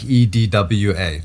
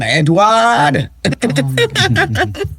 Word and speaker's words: Edouard: I was saying ignore the spelling and just think like EDWA, those four letters. There you go. Easy enough. EDW. Oh. Yeah. There we go. I'm going to start doing that too. Phonetically. Exactly. Phonetically. So, I read my notes. Forget about putting that Jamaican accent on it. Edouard. Don't do that.